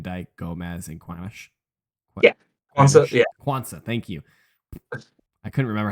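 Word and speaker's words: Quansah: being Kate Van djk Gomez and ques yeah quansa thank you I couldn't remember how to pronounce it and then I was reading it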